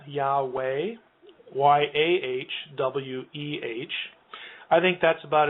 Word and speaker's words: Yahweh: It's usually spelled Yahweh, Yahweh, Yahweh. I think that's about as good as we can do. The first syllable is definitely an A vowel, Yah.